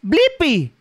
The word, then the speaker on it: Blippi: la internet tú sabes mi nombre sí es blippi bl y PP y buen trabajo ahora sabes deletrear y pronunciar mi nombre hasta la próxima chicos adiós